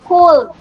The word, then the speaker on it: could: Ito naman po, pag po nagtuturo po ako ng mga silent letter, kasi po, pag sa bata po, hindi po nila yan babasahin ng could. Ang basa po nila dyan ay could. May kasama po L.